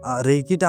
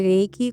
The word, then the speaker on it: Reiki: এখানে একটা কথা প্রথমেই আমি বলে রাখতে চাইছি যে রেইকি কথাটা শব্দ উচ্চারণটা কিন্তু দুটো একটা ব্যাপার আছে। যেটা একটা আরই আই কে আই রেইকি যেটা বলছি এটা কিন্তু ইংলিশ ওয়ার্ড না। এটা জাপানিজ ওয়ার্ড।